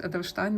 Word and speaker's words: Edelstein: the Mandarin Pelican edstein I believe it's pronounced Edelstein because it's German and then we have